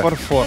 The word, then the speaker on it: фарфор: Фарфор. Фарфор, да. Фарфор. Фарфор. Фарфор. Фарфор. Фарфор. На О, да?